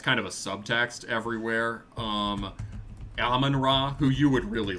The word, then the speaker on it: Amon-Ra: Oh, Amon-Ra. Okay, I always pronounced it in my head as Amen-Ra.